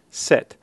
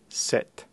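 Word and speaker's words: sept: in English so again set no notice that the p is not pronounced it's essentially a silent letter so again we get the sound set the pronunciation of the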